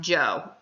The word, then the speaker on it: Zhou: something like that but it is pronounced jo in english so we will say